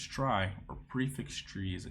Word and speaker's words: trie: let's try implement try a try pronounces try or prefix tree is